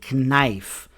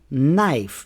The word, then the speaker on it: knife: For example, we don't say knife. We say knife. The K is not pronounced.